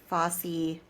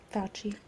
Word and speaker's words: Fauci: um, and complete out our Fosse. Fauci. Why did I just say Fosse? Because that's how it's spelled.